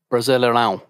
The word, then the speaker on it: Brasileirão: Portuguese is a very nasally language, so it's a Brasileirão.